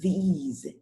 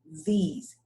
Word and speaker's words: these: So the first word is think, and the second word is these. Do you hear the difference? In the first one, I don't use my vocal cords. It's just, and in the second one, I use my vocal cords and make a deep sound, these.